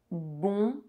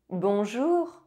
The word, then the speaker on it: bonjour: O is nasalized and N is not pronounced. Bonsoir. Bonsoir. Bonjour. Bonjour.